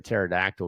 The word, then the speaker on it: pterodactyl: Number two why can't you tell why can't you hear a pterodactyl go to the bathroom? Because the pee is silent.